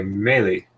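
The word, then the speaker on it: Mélee: And okay, melee. Good pronunciation. It's all the same in English, but the ME is pronounced like May.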